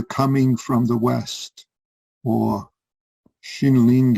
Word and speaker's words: Xinling: This one's titled Xinling's Meaning of the Coming from the West, or Xinling is the Chinese way of pronouncing his name. The Japanese way is Kyorin.